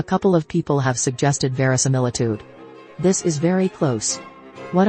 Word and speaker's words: verisimilitude: Aside from being fun to say, verisimilitude, pronounced verisimilitude, simply means the quality of resembling reality and